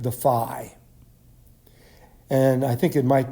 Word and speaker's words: phi: Now, the unit for electric flux is called the phi. And I think it might be helpful to remember, in order to pronounce this correctly, is that flux begins with the letter F, and phi, in terms